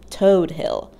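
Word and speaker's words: Todt Hill: staten island neighborhood is pronounced toad hill like the bumpy skinned animal and if gawking at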